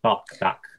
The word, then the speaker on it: Bach: And we learned about Johann Sebastian Bach, or Bach. How do you say it? Bach. The vowel. Bach. Thank you. Yeah, the vowel.